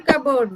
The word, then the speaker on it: cupboard: I looked dash a cupboard. Where is inside. she? Inside. Inside. the cupboard. It is not cupboard, it is cupboard. Cupboard. P is silent.